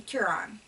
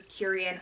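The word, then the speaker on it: Kureyon: also using noro um curon or curion I've heard it pronounced a few different ways um just your basic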